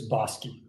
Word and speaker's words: Bosque: the language name uh so it's bosi bosi okay yes so it's actually a Spanish word yeah no for sure